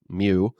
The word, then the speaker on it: mu: greek letter for m mu it is spelled mu and it is pronounced mu so that is mu